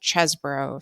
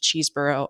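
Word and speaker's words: Chesebro: and that is when Kenneth chesbro sadly not pronounced cheeseborough according to this Washington Post reporting so this is just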